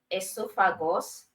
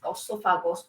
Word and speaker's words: esophagus: can either call it esophagus this is the American um American um language pronunciation or British the British own is also okay so you can either call it esophagus or esophagus all right so as